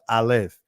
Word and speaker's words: Aleph: As he pointed out, when you look at that first letter, for example, the Alap, In the Israeli, it's pronounced Aleph.